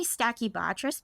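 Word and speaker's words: Stachybotrys: always say this where I say stacky Bess but I don't think I'm saying it right is that right yeah yeah that's right okay all right good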